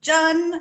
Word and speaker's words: jun: we're talking all about jun which rhymes with fun you might also know